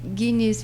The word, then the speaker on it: Agnis: Que é isso mesmo, a pronúncia? É Guinness, porque tipo... Guinness. Que eu falei Genis, mas de repente pro ouvinte captar isso aí e dar um busca lá.